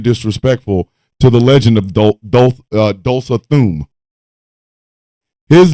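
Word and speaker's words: Tulsa Doom: I am being disrespectful to the legend of Dulsa Thum. His name is pronounced Dulsa Thum.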